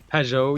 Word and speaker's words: Pageau: Pageau. Yeah, it's hard to say in English because you don't usually have an ah sound and a je sound next to each other.